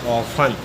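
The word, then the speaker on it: often: silent है अगला है ओ एफ टी एन यहां पर टी एन से पहले न से पहले टी आया तो इसे पढ़ेंगे ऑन अगला है सी एटी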